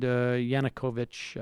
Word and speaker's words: Yanukovych: on behalf of the the Ukrainian government and Yanukovych I think is how we pronounce his name gates teamed up or basically